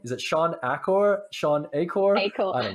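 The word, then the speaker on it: Achor: Is it Sean Acor? Sean Acor? Acorn. I don't know. I don't know. You know how to say it? I Acorn? know. Okay, yeah. Acorn. Acorn? It's like Sean squirrel. Acorn.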